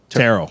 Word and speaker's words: tarot: to help me with this pronunciation terot tarot tarot yeah why do you put why do we put the tea there I didn't make him